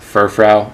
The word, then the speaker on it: Furfrou: cool card this guy I kept just because furfrou I think is how you pronounce it I used this Pokemon in my